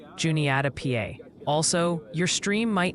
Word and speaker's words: Juniata: Raren, Rarden, Ohio, Lebanon, Lebanon, Ohio, and Juniata. Juniata, PA.